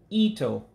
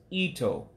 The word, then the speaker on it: ito: it change meanings too so the i goes up and the o goes down so it's ito to hail again ito to hell all right